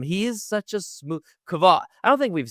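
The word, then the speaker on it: Kvothe: I I I say Kavoth. That's how I pronounce it in my head. I I had to listen to some of the audiobook as I drove and they said Quoth. So I say Kav.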